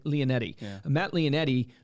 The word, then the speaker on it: Leonetti: So like Matt, how do you pronounce his last name? Leonetti.